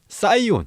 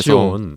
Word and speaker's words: Sion: 요거는 이제 제 영어 이름이 이제 SION입니다. 스펠링이. 그래서 시온. 네. 그래서 이제 요거를 이제 친구들이 그대로 읽다 보니까 이제 뭐 사이온, 사이언 이런 식으로 많이 불렀었고요. 네네.